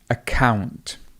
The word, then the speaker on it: account: So we've got the word account. Account. Account. So the stress would be over here. To account for something, we still have the stress over the second syllable.